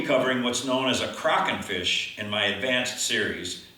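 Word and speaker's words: Kraken: the correct pronunciation is Crockett a croc and fish is a Norwegian sea monster which is pretty cool and this is how they say it in Norway so we'll stick with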